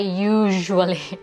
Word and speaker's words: usually: And by the way, yung word na usually, ang bigkas ay usually. Okay? Imbis na SH, ZH.